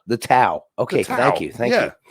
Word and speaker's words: Tao: right and i'm gonna name it the the thai i i don't know how to pronounce that word i wish i did um the tao the tao okay thank you thank you that's what i